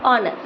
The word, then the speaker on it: honour: कहीं कहीं पर लेटर H के बाद O हो तो H हमेशा साइलेंट होता है, जैसे HOUR आर, HONEST ऑनेस्ट और HONOUR ऑनर।